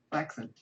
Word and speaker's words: flaccid: Flaccid. It's actually pronounced flaccid. Not a lot of people know that.